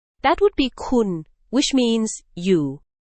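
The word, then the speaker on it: คุณ: That would be kun, which means you.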